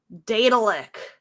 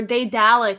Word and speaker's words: Daedalic: I don't know how to pronounce this developer name. Daedalic? Is that how you say it? It's Daedalic. Daedalic.